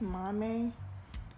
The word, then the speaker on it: Maame: Mom but I think in ganian tree it's meant to pronounce Mame and I found his